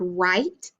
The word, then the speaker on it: write: And WR says and the W was silent.